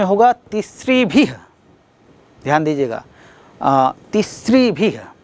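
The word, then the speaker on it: तिसृभिः: ध्यान दीजिएगा, तिस्रिभिः, उच्चारण भी आपको सही करना है।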